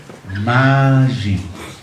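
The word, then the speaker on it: מים: Cielos se dice Shamayim. Y aguas se dice Mayim. Oh, ahora ya te das cuenta que son dos cosas muy cercanas. Mayim y Shamayim. Shamayim es cielos. Mayim es agua.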